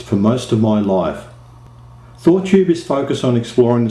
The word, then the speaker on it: Thoughtube: to thought you yes it's pronounced as two words thought tube this is because sometimes